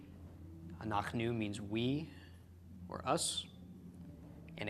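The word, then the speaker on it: אנחנו: front of me but anak nu is the pronunciation regardless an ox new means we for us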